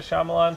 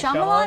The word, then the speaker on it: Shyamalan: Night Shyamalan? I've always said Shyamalan Why would you say that? because it has the word shy.